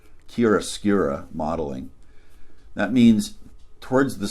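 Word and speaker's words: chiaroscuro: using it's a technique I think it's pronounced Kira skura modeling that means towards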